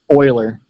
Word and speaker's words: Euler: is right here EU le AR it's actually pronounced Euler though attentions not American so it's discovered by the Leonhard Euler one since his last name started with an